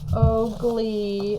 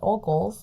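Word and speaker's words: Ogles: his name but um again that was Mr Ole or not Oly Oly Bly Heather found that it is pronounced Mr oal o g l e s and he is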